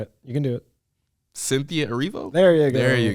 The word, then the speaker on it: Cynthia Erivo: I can pronounce it if you'd like. Come on, let's try it. You can do it. Cynthia Erivo?